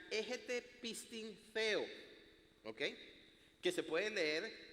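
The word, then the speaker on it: ἔχετε πίστιν θεοῦ: Pero cuando uno va al original griego, y esto lo descubrí estudiando, preparando para este tema, en griego dice, se pronuncia egete pistin theo, ¿ok?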